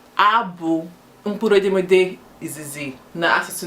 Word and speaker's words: b: Nke abụọ bụ B. A na-akpọ ya B, like the insect B that gives honey. So it's written as B, pronounced as B-double-E.